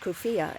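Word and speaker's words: كوفية: leav one paralyzed the Kier pronounced kuia in formal Arabic has long been a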